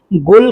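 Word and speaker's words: قُل: यदि आप अरबी पढ़ते हैं, तो इसे 'क़ुल' लिखा जाता है। इसे 'क़ाफ़' (बड़े k) के साथ लिखा जाता है। जैसे ' क़ुल हुवल्लाहु अहद'। इसलिए बोलचाल की भाषा में 'क़ुल' शब्द का उच्चारण 'गुल' होता है।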